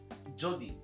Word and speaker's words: যদি: আচ্ছা, তারপর হচ্ছে যদি। আচ্ছা, তাহলে যদির ক্ষেত্রে কি হচ্ছে, এই জয়ের উচ্চারণ কিন্তু বর্গীয় জের মতো হচ্ছে। আর এখানে ওকার, জো, আর যেহেতু পরে ইকার রয়েছে তাই এখানে।